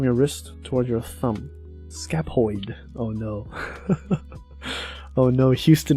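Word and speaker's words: scaphoid: Oh, it's PH, so it's pronounced with an F. Scapoid. Scapoid.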